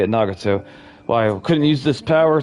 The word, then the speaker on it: Nagato: Nagato.